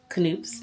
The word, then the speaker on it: Knoops: I'm back from Knoops, which I now know is pronounced Knoops.